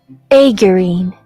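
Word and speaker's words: aegirine: you say that what is aine and the pronunciation of that is aurine yeah anyways aurine also known as acmite is a sodium iron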